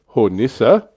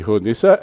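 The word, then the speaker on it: Hornisse: terrible German pronunciation Vesper the E is pronounced in German I've been dropping it like the French and I got spanked so yeah no it's hornissa for which I apologize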